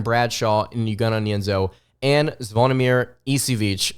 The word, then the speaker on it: Zvonimir Ivisic: and Uganda nyanzo and zvonimir isivic again that's how I believe how you pronounce his name that's how the announcers